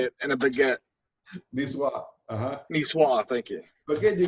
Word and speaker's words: Niçoise: Mushroom and leek tart, salad, nicosi. I don't know how to say it. And a baguette. Niçoise.